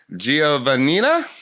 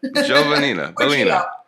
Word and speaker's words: Giovannina: fenina jovannina jovanina jovanina you know those italian names there's a lot of syllables and everybody tries to pronounce each one but you can kind of smooth it out joe venita joe vanina fantastic author of oh